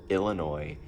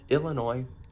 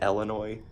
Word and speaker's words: Illinois: Illinois. Some people pronounce it Illinois. I don't like that. Also, it ends in an S, which if it's French, then whatever, that's how they work.